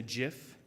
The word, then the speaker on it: GIF: there were some pictures or maybe even a gif and yes it is pronounced gif to go along with it the